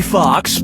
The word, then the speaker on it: Foxx: Jamie Foxx, Jamie Foxx, Jamie Foxx, or Jamie Foxx? Jamie Foxx's last name has 2 X's in it. The first X is silent.